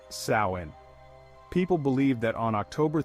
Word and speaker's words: Samhain: that it all began with a festival called samhan pronounced sain people believe that on October 31st the boundary